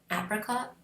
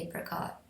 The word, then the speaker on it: apricot: Um and I know Americans say apricot. I say apricot.